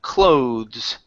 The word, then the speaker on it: clothes: Instead of closed clothes with a Z sound at the end.